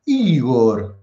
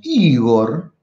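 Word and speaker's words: ὕδωρ: El cuarto elemento es el agua, o sea, Igor, así lo pronunciamos, Igor, el agua, dice Tales de Mileto.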